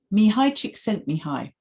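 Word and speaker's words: Csikszentmihalyi: to check to make sure i get the pronunciation right me hi chick sent me hi there we are that's his name and he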